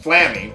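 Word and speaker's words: Flammie: Flamey! Or probably pronounced Flammy, but I'm gonna pronounce it Flamey anyway.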